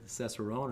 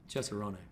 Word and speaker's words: Cesarone: not so much and here we say cesaron how do you say yeah wrong okay yeah chessarone I love it yeah